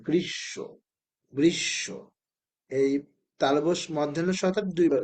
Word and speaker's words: গ্রীষ্ম: আসে তাহলে কি হবে যে অক্ষরের সাথে থাকবে সেই অক্ষরটা দুইবার উচ্চারণ করতে হবে সেই অক্ষরটা কি করতে